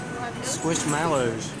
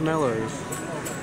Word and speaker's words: Squishmallows: Squishmallows. Not mellows. I know that's how you spell it.